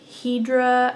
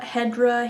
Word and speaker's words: Hedera: have figured it out um this is my Hedra Hedera helix pullover I got the name wrong last week but it's by rosemary or